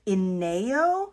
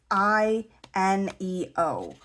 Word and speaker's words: Ino: This is the Pelican Ino, I believe it's pronounced. It's I neo.